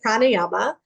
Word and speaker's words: Pranayama: absolutely um so you did say it right Prana Yama um Prana is your life force right our